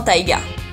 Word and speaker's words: taïga: On va l'utiliser pour le E dans Noël, pour le I dans aïeux, pour le I encore dans oui ou dans taïga.